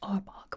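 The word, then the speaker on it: Arbok: It's actually pronounced arbog.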